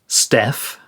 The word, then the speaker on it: STF: Apparently, it was soon abbreviated to STF and pronounced Steph by those in the know.